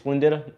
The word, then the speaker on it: Splendida: on the msc splenda slinditta is how you say it splendida uh hopping hoping brazil